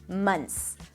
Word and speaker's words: months: now in your tongue, you can drop the TH. You can totally drop it, and it's going to sound just fine. Months.